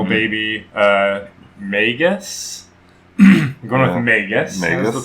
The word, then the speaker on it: Magus: I'm going with Magus. That's the pronunciation.